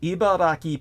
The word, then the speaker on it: Ibaraki: So Kiyomaru, the first name, Kiyomaru, Kiyomaru Takenouchi, or Takeuchi, discovered an ancient document in Ibaraki Prefecture in Japan that led to his advancement in social status. Ibaraki is spelled E-B-I-B.